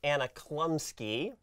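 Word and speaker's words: Anna Chlumsky: So I mispronounced the actor's name last week. Her name is actually Anna Klumsky. Okay. So Anna Klumsky, we see that her character and Gordon, like,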